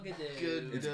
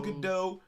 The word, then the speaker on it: Gadot: time you are going if you want to pronounce your name come correctly it's gal the dough gal gadot gal gadot pronounce it correctly you heathen even gadot